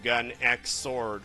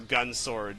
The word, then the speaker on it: Gun X Sword: And then we have Dan of Thursday from Gun X Sword, or Gun Sword, depending on how you want to pronounce that. That mysterious Japanese X.